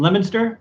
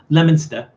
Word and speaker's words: Leominster: back from leominster i i know how to pronounce lemonsta all right snackhead cowboy knows how to pronounce that julie jack knows how to pronounce that uh you know every everyone else who sees that says leo minster that it's lemon stuff lemon stir or lemon